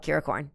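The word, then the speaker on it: Kiracorn: you're talking about yeah that's how it's spelled curacorn yep like unicorn except with my name that's where it comes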